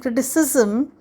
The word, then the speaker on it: criticism: of these words so criticize ends with i z e and it sounds like in a size criticize and criticism it has i s sound like uh the word hi as his